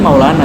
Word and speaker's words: Mevlana: Jadi itu Mevlana itu dibaca Maulana sebetulnya. Harusnya Maulana. Bacanya Mevlana itu dibaca Maulana karena itu spelling Turki.